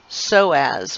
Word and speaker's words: psoas: you the iliacus and this is called your so as with a silent p now these two muscles